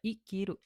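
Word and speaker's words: 生きる: Sekarang kita lihat ada kanji sebelah kanannya kiru. Berarti ini dibacanya I.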